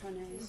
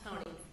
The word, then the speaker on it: Hone: Am I saying that properly, Ms. Hone? Honey. Honey. Yes. Okay. You're all saying it wrong.